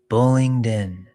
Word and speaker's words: Bullingdon: Say it slowly. Bullingdin.